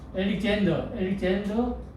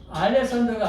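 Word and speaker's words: Alexander: 이게 영어로 엘릭젠더 더 그레이트. 알렉산더가 아니고 엘릭젠더. 발음을 정확하게.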